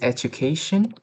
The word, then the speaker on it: education: Um the next one is education. Um I I I I saw you pronounce it right with the first one is atu instead of at do. Yeah, you say it correctly. But the the um the the one is about a shin. Uh you say sun. Uh, it's not correct.